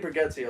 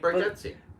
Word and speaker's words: Bargatze: Well, Nate Bargatze also lives in Nashville. Nate Bargatze.